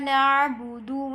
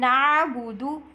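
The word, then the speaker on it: نعبد: In Na'budu, pronounce the letter Ain clearly from the throat.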